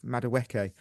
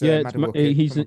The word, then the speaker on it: Madueke: D Nobes, how much more time do we give Madueke? I'd like to put, you've pronounced his name wrong in that. It's Madueke. He's an angry an angry person from one of the planets in Star Wars.